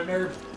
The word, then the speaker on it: herb: For some reason, you don't pronounce the B. Or the H. Oh, I got an herb.